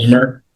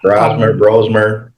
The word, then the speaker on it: Brosmer: And I think it may be pronounced Brosner because they kept calling him Brosner. Brosmer, Yeah, in the game. Brosmer, 4 Right.